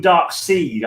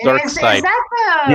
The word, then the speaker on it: Darkseid: Does anyone else ever used to call him Dark Seed? I think I used to call him Dark Seed. And it's pronounced Dark Side.